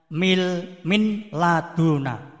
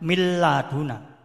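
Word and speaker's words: مِنْ لَدُنْ: Misalnya min laduna, membacanya mil laduna. Nah ini juga ada tasdidnya nanti ya. Kemudian min rabbihim, membaca mir rabbihim.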